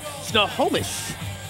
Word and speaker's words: Snohomish: How do you pronounce the hometown of Colton Casto? Snohomish.